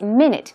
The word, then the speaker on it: minute: the same way as minute one minute two minutes 60 seconds is one minute but the pronunciation is minut minut it's pronounced very differently and it means tiny